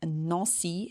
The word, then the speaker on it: Nancy: And a quick pronunciation note, the A in Nancy has the same sound as words like France, chanter, and jambe, that on sound.